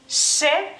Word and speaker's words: š: por así decirlo, y se pronuncia she, se llama she. She. Existe la misma letra o el mismo sonido en inglés, por si esto les ayuda, por si ustedes hablan inglés, por ejemplo, en la palabra ship o shop, por ejemplo, ¿no? Entonces se pronuncia de la misma manera como en inglés.